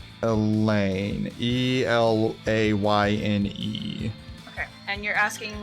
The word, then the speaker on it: Elayne: Okay, Elaine or Elena? Elaine. Elayne. Okay, and you're asking where from and how it's pronounced?